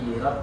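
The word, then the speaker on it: لِرَبِّ: udah bisa dia mengucap Soli ininya pendek, jadi tidak perlu dibaca. Soli lirab tidak, tapi dibaca pendek.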